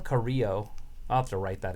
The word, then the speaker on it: Carrillo: Humberto Carrillo. Carrillo.